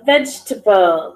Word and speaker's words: vegetable: there that's okay this word we had a vegetable vegetable vegetable which one am I not pronouncing vegetable also the e between the G